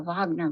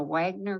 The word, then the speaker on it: Wagner: Army known as the Wagner group and that's the the European pronunciation here in America we might say the Wagner group w-a-g-n-e-r but it's generally pronounced